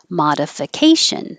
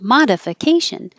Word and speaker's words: modification: longer primary primary secondary in this case ma is the secondary stress so it is longer but not higher because it would sound like modification modification is too jumpy jumpy so you stretch